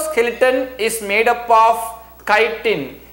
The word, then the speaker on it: chitin: is made up of chitin chitin chi ti-n you have to pronounce it as chitin chitin is nothing but